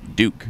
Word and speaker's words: Duke: let's talk about propellers do you see pronounced Duke Duke not duck not duck got to meet some